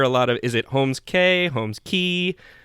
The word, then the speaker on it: Holmes Cay: middle name is Holmes, so your last name is pronounced K, so Holmes Cay.